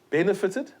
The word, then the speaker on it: benefited: benefited you please note benefited the stress is not on the final syllable so the t will not be doubled thank you for listening